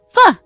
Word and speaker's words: pho: Pho!